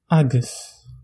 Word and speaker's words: agus: Le A brève a une prononciation très proche au français. La différence est subtile. Donc, je vais vous montrer avec des exemples, comme dans le mot agus.